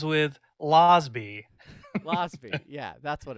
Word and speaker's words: Rosbe: But anyway, Sarah Carbiener and And Rosbe. Rosbe. Yeah. I got it, man. It rhymes with Losby. Rosbe. Yeah, that's what it rhymes with. Yeah, they were amazing.